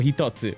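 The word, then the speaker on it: 一つ: The number for 1 can be pronounced hito or hitotsu.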